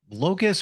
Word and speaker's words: locus: think you called it Locus or Lotus of control now we're going to get into that am I saying it right Locus c-us l-o-c-u-s that's what I thought you said it sounds like Locust like the little inside